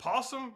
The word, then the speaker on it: opossum: First, we got this thing called a possum, although it's spelled opossum, but the O is silent.